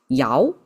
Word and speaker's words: 爻: And Yao is the last one.